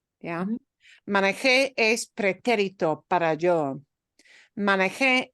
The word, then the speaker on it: manejé: If I punch the last syllable, it becomes something totally different. Yeah. Manejé es pretérito para yo.